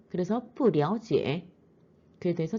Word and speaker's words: 不了解: 이때 러자 뿌와 합치게 되면은 랴오로 발음이 됩니다. 다시요. 러는요. 뿌와 함께 오면은 랴오로 발음됩니다. 그래서 뿌랴오지에 그에 대해서 잘 모릅니다.